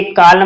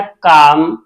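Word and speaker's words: calm: सी ए एल एम इसे कालम नहीं पढ़ना है इसे पढ़ना है काम पी एस ए एल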